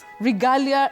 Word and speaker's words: regalia: So that letter a takes its name as the sound.